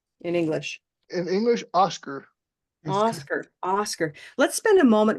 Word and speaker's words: Oscar: And the way English behaves, we'll say something like Oscar. Oscar. So that second syllable is very purple and little, right? Oscar. Now, Oscar. that's really different from the way it sounds in Spanish. In Spanish, it doesn't sound like Oscar. It sounds like this.